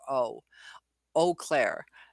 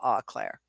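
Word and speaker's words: Eau Claire: but ah e a u it should be pronounced o Clair and I hate that people call it Au Claire but that's your michiganders for you it's like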